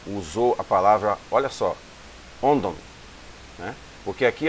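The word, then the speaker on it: ὄντων: Só que quando os dois ocorrem juntos, aqui assume um som de D. Então não é onton, é ondon, certo?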